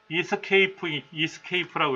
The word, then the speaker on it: Esc: ESC라고 되어 있는 거는 본래는 이렇게 읽어요. 이스케이프라고 읽어요.